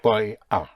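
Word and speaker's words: voy a: So it's always boy I'm going though it is spelled in two words but in in the spoken language you contract the boy to boy you make it practically one word yes in speaking boy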